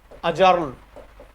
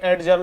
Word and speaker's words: adjourn: अजर्न, यहां पर D silent होता है, काफी एडजर्न, एडजर्न बोलते हैं, सही प्रोनाउंस होता है अजर्न, ADJOURN, अजर्न। अजर्न मीन्स भी क्या होता है, स्थगित करना।